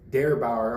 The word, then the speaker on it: Der Bauer: in the beer for this one yeah so pronounced dare dare Bauer under all their beers they'll give you like